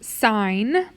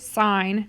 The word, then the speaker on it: sine: So instead of sine, you're going to see it like this, S-I-N, but we still pronounce it sine, not sin.